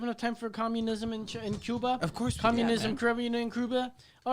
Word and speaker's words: Cuba: And so it gave me this Cuba. here. This is you have to say it right if you're gonna say Cuba. Cuba. It's like Cuba Gooding Jr.